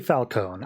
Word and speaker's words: Falcone: I say Falcone. I feel like that's the most obvious silent E I've ever seen in my life, but whatever.